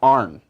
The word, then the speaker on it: iron: Well, it's often Iron. pronounced arn. Iron. Oh, okay.